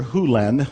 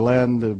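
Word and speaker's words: Hew Len: and it's actually Dr Hulen I've shortened it from E to Dr land but it's actually Dr Hulen if you want to say his name correctly and Doctor Who lens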